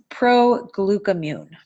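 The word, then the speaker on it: Proglucamune: difficult thing about this product is how to pronounce it so it's pro Glueck immune again one of my favorites moving on let's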